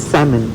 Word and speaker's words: salmon: এখানে একটা জিনিস, এই যে এখানে কিন্তু লেখা স্যালমন, এটার উচ্চারণ স্যামন।